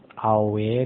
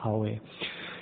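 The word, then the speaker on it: awe: it's slang in Afrikaans, spelled A-W-E, pronounced aware, not R, it's aware.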